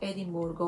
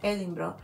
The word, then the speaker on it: Edinburgh: He visitado muchas ciudades, pero siempre que voy a Escocia, especialmente Edimburgo o Edinburgh, como se pronuncia allá.